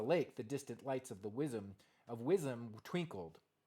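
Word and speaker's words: Wyzim: Beyond the lake, the distant lights of Wism twinkled. Vism, I think the W is pronounced with a V.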